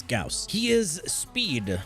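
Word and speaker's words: Gauss: right here we are at number seven with gaus yes that's how you pronounce it not Gau it's gaus he is speed not faster than Vault or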